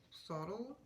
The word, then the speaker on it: subtle: is very subtle is how you say it subtle yeah um but it's very beautiful i like